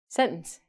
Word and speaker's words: sentence: But Americans and Canadians say sentence.